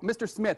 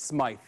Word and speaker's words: Smythe: And I was like, oh, Mr. Smith. He goes, it's Smythe.